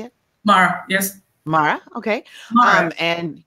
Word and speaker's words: Māra: MARA, yes.